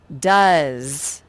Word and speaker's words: does: do anything and then the s it makes the z sound it spells z so it really is tricky and you will have to practice this does does does this vet